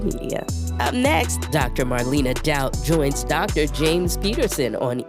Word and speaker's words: Daut: Am I pronouncing your surname correctly? Yes. So, Marina Dout.